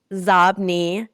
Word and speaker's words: Xobni: A name that I just massacre in my book, it's spelled Xobni. It's pronounced Zobni, and it's inbox spelled backwards.